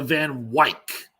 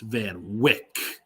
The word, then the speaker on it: Van Wyck: "Cast him aside onto the Van Wyck." But I was quick to say, "It's pronounced Van Wick."